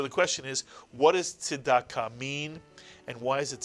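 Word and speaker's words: צדקה: Now put the word together and you get tzedakah, mitsuyan, tzedakah. What you often hear in English is tzedakah, but in Hebrew it is tzedakah, mitsuyan. And so the question is, what does tzedakah mean, and why is it such an important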